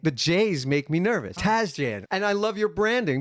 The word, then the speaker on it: Tasjan: I am here today with Aaron Lee Tazjan. Hello. Hello. Hello. Hello. Tazjan. Tazjan. Tazjan. Do I pronounce that correctly?